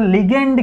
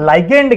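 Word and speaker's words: ligand: जिसका नाम है बच्चों लिगेंड गेटेड चैनल या फिर लाइक एंड गेटेड चैनल जैसा आप प्रोनाउंस करना चाहो सही है तो यहां पे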